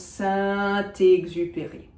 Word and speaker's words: Saint-Exupéry: Why do I pronounce the T of Saint? Didn't I say that I shouldn't be pronouncing T's? Yes, however, I'm pronouncing it because it's followed by a vowel of Exupéry. So it becomes Saint-Exupéry. That's why.